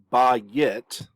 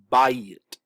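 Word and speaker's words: בַּיִת: that form one syllable so we don't want to pronounce this as ba yet keeping two syllables by yet we want to pronounce this pronounce this as by it one syllable and what a diphthong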